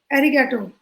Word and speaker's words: arigato: which you asked so arigato it is commonly pronounced as Arigato Arigato arigato whatever connects with you you can you can pronounce it like that and it's a Japanese